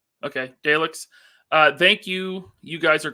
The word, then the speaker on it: Daleks: Did I pronounce that right? Okay, Daleks.